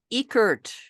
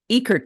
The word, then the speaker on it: Uekert: get it right oh my last name is pronounced ecurt ekert not I always tell people pretend you've seen a mouse it hurts I love it I